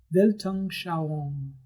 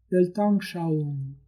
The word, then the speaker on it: Weltanschauung: need to know that the letter W in German is pronounced like the letter V in English. The word has 4 syllables: Welt, An, Schau, Weltanschauung.